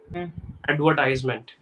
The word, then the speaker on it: advertisement: Advertisement. Perfect. So when you're speaking quickly, you tend to say it as tease and not ties. That is the syllable you're making mistakes with.